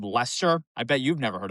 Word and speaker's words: Leicester: They can't even pronounce it called Leicester. I bet you've never heard of that town, have you? Leicester, Mass?